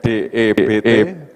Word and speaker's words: debt: Jadi hutang itu bacanya, tulisannya debt, DEBT, bacanya debt, kematian, ya.